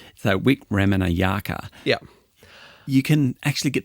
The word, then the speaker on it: Wikramanayake: Wikramanayake. You know, the great thing about Sri Lankan names broadly is that they are spelt phonetically.